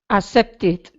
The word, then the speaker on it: accepted: The word by itself, accept, has 2 syllables, 1, 2 vowel sounds, eh, when we turn it into the past tense by adding ed. Okay, accepted. Okay, 3 syllables. Only if the word ends with a D or T, that's the only time this happens.